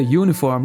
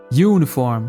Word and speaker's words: uniform: falamos and uniform pois apesar da palavra uniform começar com uma vogal seu som é de consoante uniform como na palavra you e olha só começa com y ou seja som de consoante uniform uniform da mesma